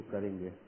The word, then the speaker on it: corps: दूसरा वर्ड कोप, हम स्पेलिंग लेते हैं CORPS, लेकिन इसका प्रोनाउंसिएशन कोर है क्योंकि फ्रेंच वर्ड कोर से निकला है KOR।